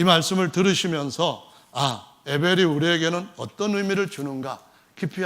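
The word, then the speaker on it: הבל: 사전에 보시면은 그렇게 되어 있는데 이 허무라고 하는 에벨이라고 하는 히브리 발음으로 하면 헤벨이라고 하는 이 단어가 쓰여져 있는 성경, 구약 성경 아주 중요한 성경이 있는데요. 혹시 여러분 아십니까? 모르시죠? 그러니까 오늘 이 말씀을 들으시면서 에벨이 우리에게는 어떤 의미를 주는가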